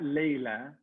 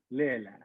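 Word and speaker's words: ܠܠܝܐ: Not Layla. Lela.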